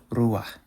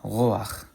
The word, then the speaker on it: ruach: So like, for example, the word for like wind, ruach, ruach. Or it's also a word for spirit, ruach. But in modern Hebrew, they say roach, roach. First of all, here's the difference between the resh, the R, and the heth. Ruach in chosen Hebrew, and roach, roach in modern Hebrew.